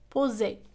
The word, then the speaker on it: poser: إذن في هذه الحالة عندما تكون S بين deux voyelles فإنها تنطق Z. poser وليس poser. poser.